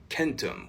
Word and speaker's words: centum: And we also see hard C's in places like Latin, where famously 100 is centum, but it was probably more often pronounced more like centum, whereas I would naturally say that more like centum.